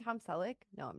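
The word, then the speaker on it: Selick: quote from Henry cic did I say his name right sounded right yep Henry celic I'm when I say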